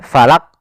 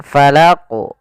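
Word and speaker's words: ٱلْفَلَقِ: Kesalahan yang pertama tidak memantulkan, ya, falak. Nah, ini qul a'udzu. Misalnya qul a'udzu birabbil falaq. Nah, ini salah. Yaitu harus dipantulkan falaq.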